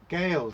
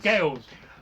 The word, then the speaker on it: Gaels: It's me not pronouncing it right with my terrible voice. Hang on a minute. Oh! Gales. Gales.